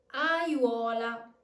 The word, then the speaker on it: aiuola: A mistake that I've seen a lot of people do is try to pronounce the triphthong as 3 separate vowels. It's simply impossible to articulate all of these vowels, so you must use the technique that I've shown you. Not Aiuola, but Aiuola.